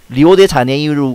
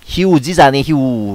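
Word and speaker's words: Rio de Janeiro: 말합니다 예보 토대로 해서 마지막에 나오는 오는 우 로 발음되는 경우가 많습니다 예를 들면 리오 데 자네이루 가 아니고 기 우지 자네 후 라고 말합니다 자 따라해 보겠습니다 관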